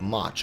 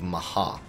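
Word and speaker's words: Mhach: One of the pieces of content there is going to be the Weeping City of Mach, or if you're pronouncing it in its Japanese form, the Weeping City of Maha.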